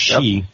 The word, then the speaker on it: Sidhe: Sidhe, but pronounced she.